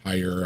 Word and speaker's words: Tyre: The ones like with Tyree or Tyre, however you pronounce it. Tyre, yeah.